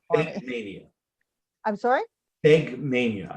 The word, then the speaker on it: Fegmania: Fegmania, I believe is the way it Fegmania. pronounces it.